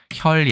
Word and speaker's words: 血: 모양을 그렸다라고 되어 있습니다 그 다음에 발음은 호결 반절법을 사용한다 호라는 것은 성모죠 히읗을